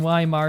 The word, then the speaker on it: Weimar: German, so I think the W in Weimar is pronounced as a V. Isn't it not quite a V, but basically the in-between between a V and a W? Maybe I'm wrong, I don't know.